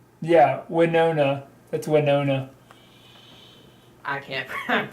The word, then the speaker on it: Winona: It'll hit Wanonia in 25 minutes from what this says. Yeah, Winona.